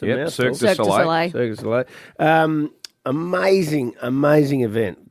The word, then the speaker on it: Cirque du Soleil: I went down to Wayville Showgrounds last night, Circus du Soleil, is that how you say it? It's a Yep, mouthful. Cirque du Cirque du Soleil.